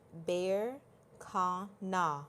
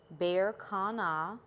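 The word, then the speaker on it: Berkana: are also blessed with we're blessed with the bear ka na roon bear Kana bear Kana and if you're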